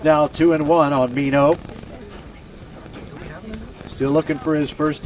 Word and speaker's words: Mino: His last name is not spelled M-E-N-O, but that's how we pronounce it. It's scored like enough, but with an M on the front, but pronounced Mino.